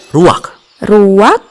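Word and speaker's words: רוח: kehadiran Allah secara pribadi kata dalam bahasa ibraninya adalah ruwak-ruwak tidak benar tenggorokan kita harus benar-benar bersih di akhir pengucapan jadi apa itu hm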